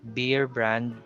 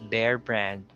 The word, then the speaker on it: Bear Brand: example we have bear so it's not beer brand or be brand it's bear brand or snow bear for